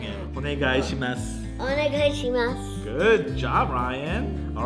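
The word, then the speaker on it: お願いします: For some reason, Ryan's always great at pronouncing it. Onegaishimasu.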